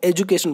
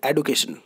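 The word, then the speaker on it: education: Pronunciate करते हैं, आप एजुकेशन बोलते हैं, ठीक है वो। लेकिन अभी जो प्रोनाउंसिएशन की अगर बात है सही तरीके से, then you will pronunciate like एडुकेशन, नॉट एजुकेशन, okay.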